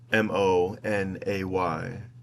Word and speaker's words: Monet: If Monet's name is pronounced Monay, why is carpet not carpe?